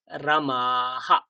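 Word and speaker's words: রামঃ: বিসর্গের উচ্চারণ হ, তার আগে আ আছে, তার মানে হয় আকার হয়ে যাবে, আহা, আহা। তাহলে কি পাবো? রামাহা।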